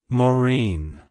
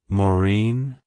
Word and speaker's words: Maureen: with Irish roots and an interesting atmology it's pronounced as Morin morine morine to pronounce it correctly emphasize the Bine